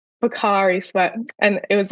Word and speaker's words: Pocari Sweat: I'm probably going to pronounce it wrong, but it was called like Pocky Sweat or something. Pocari Sweat. But yep. Pocari Sweat.